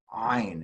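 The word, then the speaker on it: עין: So this is not a silent letter. It's not silent. It's actually that, you know, that tet that we made tat. We're actually that secondary sound, that is what an ayin is. It's ayin.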